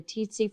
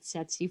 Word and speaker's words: tsetse: This is actually spread by the tsetse fly, or as my parasitology professor said, tsetse fly. I've heard it pronounced both ways.